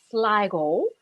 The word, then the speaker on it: Sligo: kid coming from from sligo which they of course with the diphthong pronounced lego uh the west of ireland